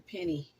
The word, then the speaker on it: penne: I used that last time, but I decided to go with the penne. I think that's the proper pronunciation.